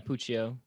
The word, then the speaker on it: Puccio: whipwreck versus val puccio is it puccio is how you pronounce it yeah puccio so uh i'm not familiar